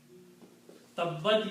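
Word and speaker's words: تبّت: So tababat is pronounced as tabbat because when you combine two letters with a shadda, pronunciation becomes tabbat.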